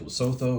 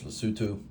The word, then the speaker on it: Lesotho: This looks like Loto. It's Lutu.